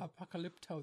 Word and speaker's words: Apocalypto: Apocalypto, that's how you say it.